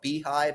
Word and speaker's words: Beehiiv: So there's an app that is called Beehive. It's spelled weird though, like Beehiiv.